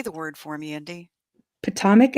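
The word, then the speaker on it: Potomac: word for me Andy Potomic I think poic it's probably one of those things like you know people say differently in different places but no it's patomic and I've been saying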